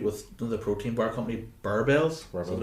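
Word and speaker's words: Barebells: I was meant to have a photo shoot with the protein bar company Barbells. That's what it's pronounced. Yeah. Barbells.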